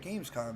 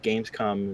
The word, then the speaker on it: Gamescom: Gamescom? Oh, Gamescom. Yeah. Never mind. Keep going, Dark. Keep going. What? Did I say it wrong? You said it with a soft O.